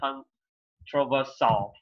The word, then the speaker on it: controversial: Các bạn là controversial hay là controversial? I'm shy nha. Controversial. Controversial. Giống như commercial vậy hả? Đúng rồi.